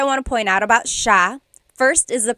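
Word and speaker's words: siya: to point out about sha. First is the pronunciation. It looks like it should be pronounced sa cia, but it's actually pronounced sha sha. So the s i y, it's a sha sound.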